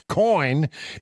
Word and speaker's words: Coign: The G is silent when you say it, but it's in there when you're looking for the website.